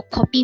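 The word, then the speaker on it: 코피: just need to remember copy with the O is um blood from the nose and copy with the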